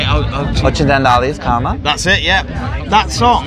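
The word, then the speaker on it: Occidentali's Karma: It's funny because Italy 2 years ago, when we had Ocidis Karma, I can't pronounce, how do you say it? Ocidis Karma.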